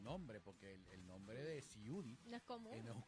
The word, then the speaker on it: Siudy: Y llega un cantador y dice, pero si es muy fácil, es como ciudad, pero con I. Ciudad. Y yo estaba, pero se escribe con S, con Y, totalmente diferente. Pero Ciudy, es que tú, qué